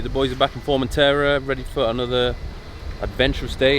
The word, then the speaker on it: Formentera: Formentera.